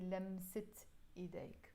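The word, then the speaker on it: لمسة: touch of your hands we pronounce this in arabic if you look at it alone the word islam say but because it's followed by the word i will pronounce the te marbuta here and we will say lemsit so idek the touch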